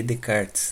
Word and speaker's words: Descartes: foi então iniciada e com o matemático rené de cartes né se fala aplicar se mas o nome dele se escreve com s de descartes né então ainda